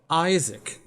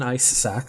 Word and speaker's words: Isaac: my name on it isaac that's better than ice sack that's how you pronounce it what's something we all